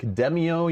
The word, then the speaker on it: Demeo: wants it said like demio you know like demon kind of you know demio um